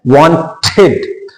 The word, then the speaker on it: wanted: Exceptions ये बताता है कि WANTED, सो we have to pronounce it एज वांटेड। तो हम इसको क्या प्रोनाउंस करेंगे, वांटेड।